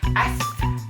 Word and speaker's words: asthma: Can someone please tell me why there is a TH in the word asthma? Like, you go to read it and you're like, asthma.